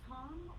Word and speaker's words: Thom: go by Thomas or Tom or Thomas I usually these days I go a most most people call me Tom I do spell it with an H because I'm weird t h m um I'll answer to